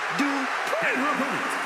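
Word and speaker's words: Dupri: Uh, Michael, it's pronounced Dri representing the Alpha Academy from Phoenix, Arizona.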